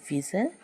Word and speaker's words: whistle: पहला एग्ज़ाम्पल है WHISTLE, विज़ल। इसमें जो है, जैसा इसमें बताया गया है STLE से समाप्त होने वाले वर्ड में टी साइलेंट होता है, तो इसमें भी जो है STLE आया हुआ है, इसके वजह से टी साइलेंट रहता है।